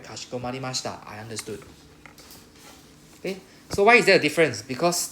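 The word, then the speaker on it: かしこまりました: Kashiko marimashita. Can pronounce after me, Kashiko.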